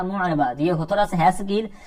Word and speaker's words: مُعْرَبَةٌ: بعض کا یہاں پر معربہ کر دیتے ہیں یا کوئی اور تلفظ کرتے ہیں. معرب لفظ آپ نے سنا نا، تو اسی سے گول حرف لگا دیں فَإِنَّهَا مُعْرَبَةٌ.